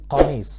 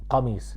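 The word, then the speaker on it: قميص: Or when I say qamis, it's not kamis, it's qa. Qamis.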